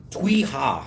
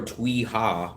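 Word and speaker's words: Tuy Hòa: We are going to the city called Twiha. I think that's how you pronounce it. T U wait T U Y and the second word is H O A.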